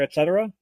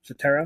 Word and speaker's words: Cetera: Peter, etc. Something like that. Okay. No, Cetera.